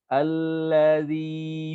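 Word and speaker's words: الَّذِي: Huruf zai ya, dia lebih tegas daripada zal, ya. Sifatnya sama, menggunakan lidah, tapi bedanya kalau zal ujung lidah di antara 2 gigi, kalau zai enggak, lidah tetap di dalam. Yatazakka allazi. Allazi. Kalau umpama kita ganti dengan zai, allazi.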